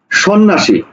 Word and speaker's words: সন্ন্যাসী: ফলা সংযুক্ত ব্যঞ্জন যেমন আমি একটা শব্দ লিখলাম সন্ন্যাসী দেখো সন্ন্যাসী না তো সন্ন্যাসী দেখো এই যে